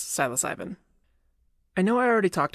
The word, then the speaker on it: psilocybin: Silas ivy and yes apparently the e at the end is not silent although I wish it was if you go to the Wikipedia page for the genus Silas ivy you can see the pronunciation listed as capital sy lowercase LOH capital sy lowercase B ee drop the e at the end and add an I in and you get psilocybin simple as that I